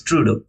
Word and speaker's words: Trudeau: trudo I guess trudo if my pronunciation is not wrong it's Trudeau so because of this trudo's